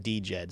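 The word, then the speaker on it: DJED: of DJ but or some people just say it's Jed the D is silent uh you know when I was at the conference in in uh Austin everyone was saying DJ Ed so that's why I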